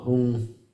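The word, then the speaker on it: hoong: It's a sacred syllable whom. If it were written in English, it would be h o o n g.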